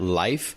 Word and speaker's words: Lyf: operations and product at life which is spelled l-y-f this is considered the